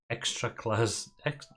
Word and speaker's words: Ekstraklasa: But in 2009, they had to drop out of the top league in Poland, which is the Ekstraklasa. How do you pronounce it? This one. Ekstraklasa.